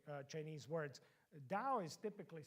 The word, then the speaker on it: Tao: in pronouncing Chinese words Dao is typically spelled with t yeah I spelled it here with a D in English typically it is spelled with a t but it is pronounced like a d does that make sense